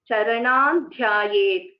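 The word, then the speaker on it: चरणान् ध्यायेत्: So in this case, if you see, since Dha is the Tavarga, the last letter of Tavarga is Na. So after the Anuswara, you see Dha, so it gets, the Anuswara gets replaced by Na. So Charanam Dhyayet, that's how it will be pronounced.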